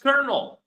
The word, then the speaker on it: colonel: But how do we write kernel? How do we write kernel? You will be very surprised. Believe me. And it's not like this unfortunately.